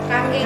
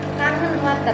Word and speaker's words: Kangen: Kanggeng water. Kanggeng. Kalau orang Indonesia mah emang nyebutnya nggak mau ribet, kangen water gitu. Tapi kalau bahasa Jepang itu dibacanya kanggeng water.